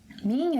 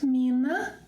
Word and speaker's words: minha: It's not minha, it's not minha, no. Nha. minha. It's similar to the ending sound of king, ring, minha.